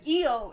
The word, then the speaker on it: io: is it is Italian EO is how you say I in Italian and say yeah there's